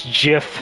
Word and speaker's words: GIF: that too soon earlier you said it gif I believe it's pronouncing gif excuse me gif huh no it's Jiff look who it is